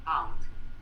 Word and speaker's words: pound: En realidad estamos hablando de la palabra pound, P-O-U-N-D, P-O-U-N-D, pound, que es como se pronuncia esta unidad de medida.